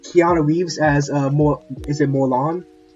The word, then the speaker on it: Morlun: I think his name is pronounced Morlan. Morlun.